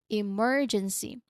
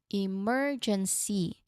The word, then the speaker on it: emergency: So emergency m emergency you make it the loudest part of the word because it is stressed. It is emphasized. Emergency. Emergency.